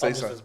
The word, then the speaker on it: Enciso: It's Enciso.